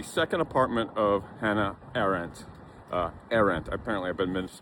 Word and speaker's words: Arendt: Arendt, apparently I've been mispronouncing it since graduate school.